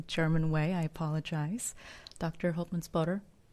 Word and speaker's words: Holtmannspötter: it in a German way I apologize Dr hman spotter how are you today I'm very fine and